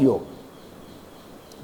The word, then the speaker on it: योग: None of the versus saying योगा। ऑल are saying योग। There is अ big difference between योगा saying pronouncing योगा एंड योग योग इज the right term but since the language